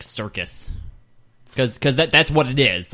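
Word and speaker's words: Syrcus: Because I thought it was like circus.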